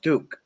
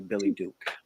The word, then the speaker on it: Billy Duke: Joanna, it's pronounced Duke, but I've been called Duck all my life, but it's actually Billy Duke.